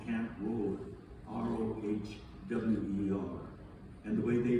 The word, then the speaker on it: Rohwer: The camp is called Camp Rohwer, r o h w e r. And the way they pronounce it, it sounded like Rohwer.